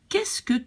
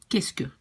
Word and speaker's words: qu'est-ce que: So then we have, qu'est-ce que tu manges ce soir? And now really practice to say this thing, because this whole thing is pronounced like qu'est-ce que. This whole thing, qu'est-ce que.